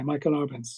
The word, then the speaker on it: Michael Arbenz: Michael Arbenz.